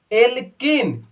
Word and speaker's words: alkene: Last में इन आए, last में देखो एल्किन, एल्किन तो इसका सफिक्स यानी उच्चारण लास्ट में क्या हो रहा है, इन, एल्किन।